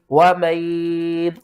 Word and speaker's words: وَمَن: آپ کو سمجھاتا ہوں۔ واو زبر وا، میم نون یا زبر مین، وَمَن، اب بہت سے لوگ کرتے ہیں میم یا زبر مئی، وہ کہتے ہیں کہ جب تشدید اور